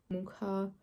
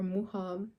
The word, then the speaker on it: Mucha: Today we're going to be looking at Mucha or Mucha. When I was in Prague, they pronounced it Mucha, I think. But I watched a video on Art Nouveau and someone said Mucha, so no idea.